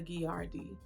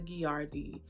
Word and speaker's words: Gilardi: I mentioned when I went to Casa giardi was pronouncing that completely wrong earlier in the video I was giving G the energy that a Spanish H is supposed to have and I don't again